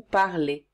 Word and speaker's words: parlez: Pour vous, on ajoute EZ et on prononce cela est. Vous parlez.